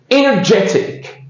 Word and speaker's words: energetic: So the stress is on the sec the third syllable. Energetic. Energetic.